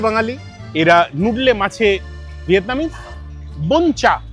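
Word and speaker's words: Bún chả: বনচা সারা series যেটাকে আমি বাঞ্চা বাঞ্চা করে এলাম। জানলাম একচুয়াল উচ্চারণটা হচ্ছে বুনচা।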